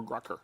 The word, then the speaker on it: Grocker: We're going to give you that, plus Pandora Premium for 3 months, Sling TV promo code, and is this pronounced Groker or Grucker? Grocker. Grocker.